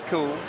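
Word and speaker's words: Kuhl: The Huskies send it back behind Alexi Cool. And yes, he is cool, but his last name is spelled K U HL, pronounced cool.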